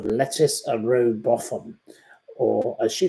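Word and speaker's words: Lettice: look her up but her name is spelled l e t TI i c e and she has exceptional Talent so I urge you to listen out for lece a bofam or as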